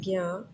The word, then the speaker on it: ज्ञ: और इसलिए इसको प्रोनाउंस करते हैं ज्ञ, ज्ञान, ज्ञ नहीं होता, ये ज्ञ होता है, थोड़ा सा नाक में प्रोनाउंस होता है, उच्चारण होता है इसका।